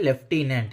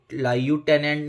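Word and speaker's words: lieutenant: भी एफ नहीं है लेकिन इसको लेफ्टिनेंट बोला जाता है तो आप नोट करिए य लेफ्टिनेंट य लायू टेनेंट नहीं है और इसको याद करने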